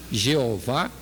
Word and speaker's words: Jeová: Na pronúncia Jeová ou Iavé, ou qualquer outra pronúncia segundo uma língua qualquer, é o que estavam querendo dizer.